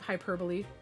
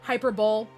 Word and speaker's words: hyperbole: that would be like you know what it's pronounced as salome also wants your skull so kind of the epitome of hyperbole yeah hyperbole instead of hyperbole look man all i'm saying